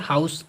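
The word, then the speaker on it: Hantzsch: इसको आप अपनी सुविधा के लिए थोड़ा अच्छा लगेगा प्रोनाउंस करने में, हाउस पढ़ लीजिए, हाउस मेथड। ठीक है, जेड यहाँ पर साइलेंट होता है, हाउस या हाउस मेथड करके आप पढ़ सकते हैं, जो भी आपको जैसा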